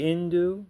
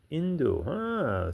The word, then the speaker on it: Hindu: They don't pronounce H. When they see the word H I N D U, they say induo. Interesting. And our religion to them is induismo. Ismo is ism. Indu, huh?